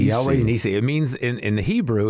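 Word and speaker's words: Yahweh Nissi: your album here, which is, you want to pronounce that for me? Yeah, Yahweh Nisi. Yahweh Nisi. Yahweh Nisi.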